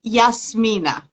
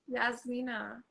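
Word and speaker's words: Jasmina: So in Croatian, it would be Yasmina. Yasmina.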